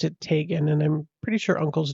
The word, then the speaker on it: Teagan: actually pronounce Tan's name correctly I would have pronounced it Teegan uh but I saw her uncle on like a press conference with the RCMP and he pronounced it Tagan and I'm pretty sure uncles don't usually mispronounce